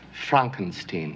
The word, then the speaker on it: Frankenstein: My name is pronounced Frankenstein.